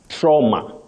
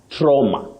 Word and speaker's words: trauma: In most cases, the standard pronunciations under what we call RP, that is received pronunciation, Yes. we say trauma, trauma. But trauma is also acceptable, especially for those who are inclined to the American English. Trauma or trauma.